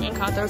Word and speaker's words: Encanto: It seems like Encanto has been like phased out. I don't really see a lot. I'm pronouncing it wrong. Encanto, sorry.